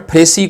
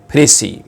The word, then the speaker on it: précis: The word फ्रेसी को हम एज a noun और एज अ वर्ब यूज़ करते हैं। एज अ नाउन इसके स्पेलिंग है PRECIS और इसको प्रोनाउंस करते हैं फ्रेसी।